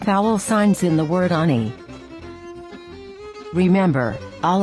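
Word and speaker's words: אני: by two vertical dots this is the sign for a very short or fast ah sound and note that after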